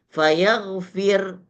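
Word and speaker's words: فيغفر: Kalau dibaca secara sukun atau jazam, maka seperti yang kedua ini dibaca fayaghfir. Fayaghfir, ya. Fayaghfir tetap berlaku tarkik. Kalau dibaca ismam berlaku tarkik. Fayaghfir, fayaghfir. Kalau dibaca raum maka berlaku tafkhim.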